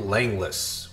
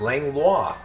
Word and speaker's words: Langlois: We're about to roll through Langless, which looks like it should be pronounced Langlois.